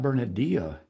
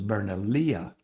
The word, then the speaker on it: Bernalillo: But the first one was not Bernalillo, Bernal it was Bernalía or something closer to Bernalía than Bernalillo.